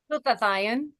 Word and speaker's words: glutathione: How do you pronounce that? Glut glutathione. Glut Say it again.